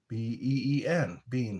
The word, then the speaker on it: been: They don't like how we say Ben. Like, how have you been? And it's spelled B-E-E-N. Bean. How have you been? But we say Ben, like gentle Ben.